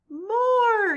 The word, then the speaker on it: more: that has four letters one letter is silent this word rhymes with floor more you're exactly right everybody